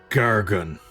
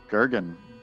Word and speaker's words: Gergen: He scoffs and, name is Gargan. Gergen. Nice to meet you, Gargan. Gergen. Gergen. I will seriously try to say it correctly.